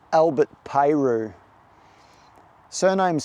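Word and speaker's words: Peyroux: Got a guy in here called Albert Peru. surname is spelled P E Y R O U X. I reckon the X is silent.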